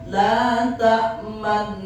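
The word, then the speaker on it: لا تأمنا: menurut qirat hafaz kalimat la tamanna bisa dibaca dua cara. Yang pertama ismam la tamanna ismam. Di sela-sela gunah dimonyongkan bibir kita.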